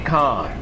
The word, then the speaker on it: Kane: complain about you and you said Billy Khan like no it's Kane no it's actually Khan when I do stuff like this I will go straight I like will go straight to the source I used to say Billy Kane on my life until I was like